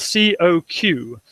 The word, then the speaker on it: Coq: It's spelled C-O-Q, and so it's pronounced in English coq.